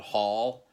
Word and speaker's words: Haal: This is a band called Hall. It's spelled Haal.